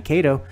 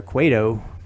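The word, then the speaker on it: Cueto: Jake arietta versus uh Johnny KO or quo I guess you pronounce it quo Johnny quo and and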